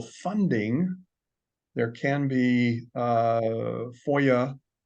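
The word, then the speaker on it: FOIA: there can be uh Foya that's that's how that's pronounced Foya requests that have to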